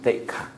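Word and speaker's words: sikkhā: So in the Buddhist tradition, the keyword in Pali called sikha, in Sanskrit called siksha, in Burmese pronunciation theka.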